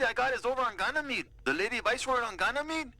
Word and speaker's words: Ganymede: Let's go to Granny Mead's and get this over with. It's pronounced Ganymede.